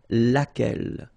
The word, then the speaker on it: laquelle: So basically same rule, Q-U, U is not pronounced here. And then you've got this double L-E, well, phonetically here, it is the same as what we have here. So laquelle.